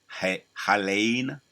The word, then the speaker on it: Helene: They got the Hurricane Helene. That's how you pronounce it.